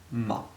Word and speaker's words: 吗: Ni is pronounced in the third tone, hao the same, and ma has the fifth tone.